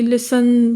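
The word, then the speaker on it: listen: हमेशा रहे बीच में कुछ साइलेंट थ भी इन्होंने ठोके हुए हैं कि जी लिसन बोलना है तो बीच में अब लिसन में टी नहीं आ हम कहां कैसे जब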